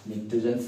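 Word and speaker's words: pnictogens: নিকটোজেনস এখানে P silent থাকবে, নিকটোজেনস এর পি টা সাইলেন্ট থাকবে, নিকটোজেনস বলা হচ্ছে।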